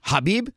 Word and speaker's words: Khabib: Some will go silent K, and some will pronounce it. Oh, Habib?